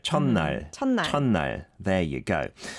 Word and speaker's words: 첫날: But in this case, when the 받침 is 시옷, you don't really pronounce the 시옷 as S, but you pronounce it as like just closing your mouth, like 첫, 첫, 첫날. 첫날, 첫날.